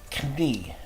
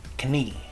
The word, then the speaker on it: knie: But in Dutch, we pronounce both the K and the N. So this is pronounced knie, knie.